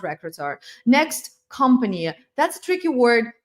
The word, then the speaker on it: recruiter: That's why you say recruiter, recruiter, not recruiter.